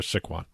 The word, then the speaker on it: Sycuan: It's Sycuan.